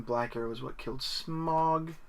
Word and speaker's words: Smaug: arrow is what killed Smaug, or Smaug if you pronounce it that way.